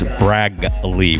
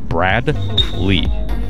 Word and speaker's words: Bradley: our regular fans on the potential mispronunciation of Bradley as Braglee with a G. And I've been concentrating. In fact, I've been breaking the name in half. Brad Lee.